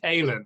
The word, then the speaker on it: Aylen: It's Aylen, which is a bit of a weird pronunciation, so don't worry. No, Most people call me Alan, but I answer to anything.